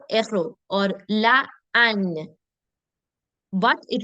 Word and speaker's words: héros: Now, um, the alphabet F can sometimes block the liaison, but it's still silent. For example, l'héros, le héros, le héros, or la an, but it will still be silent.